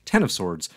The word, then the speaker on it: X of Swords: powers of 10 and X of Swords is pronounced 10 of Swords leaves me no choice